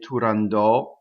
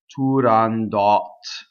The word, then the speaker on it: Turandot: From what I've heard, Puccini used to say Turandot, but if you look on the RAI site, in the pronunciation dictionary on the RAI site, they will have it listed as Turandot, which presents a problem